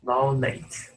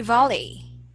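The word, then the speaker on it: valet: is parking vets volleys volet mhm someone help you to park your car okay very great sir exactly you will say volet volet Okay um that one is a silent t b b okay so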